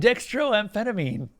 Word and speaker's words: dextroamphetamine: what you're looking for they call it and dextroamphetamine no that is actually how you say it